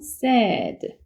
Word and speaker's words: said: one day my homeon teacher 다음에 말하 말씀하셨다라고 했으니까 say의 과거형 said 이거 발음 said지 say 아니니까 조심하세요 s said 슬픈이라는 said하고 발음이 같아요 그래서 said라고 읽어 주시면 되고 그다음에 있을 거예요라고 으니까 there will be 렇게 하면 이게 있을 거예요라는 말이에요.